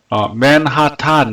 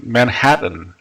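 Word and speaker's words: Manhattan: 예를 들어서 맨하탄 이러잖아요. 맨하탄. 근데 맨하탄이라는 단어도 원래는 이제 맨하튼, 맨하튼 그렇게 되는 거거든요.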